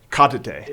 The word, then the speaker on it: Cottidae: It looks like it says Cottidae, but how do you say it? Cottidae. It's a Danish word.